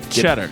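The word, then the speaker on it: Tschetter: T-S-C-H-E-T-T-E-R. Cheddar. Yo, man, you got to get that Something cheddar. is silent. Is it the Cheddar. T or the Cheddar. S or the Cheddar. CH? I think it's cheddar.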